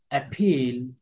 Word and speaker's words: appeal: Appeal, এ পি ই ল, এটা দীর্ঘ long sound হবে, দীর্ঘ। হ্যাঁ। আ ফা ই ল, অ্যাপিল, আপিল, আপিল। আটা খুব অর্ধ সাউন্ড উচ্চারণ হবে।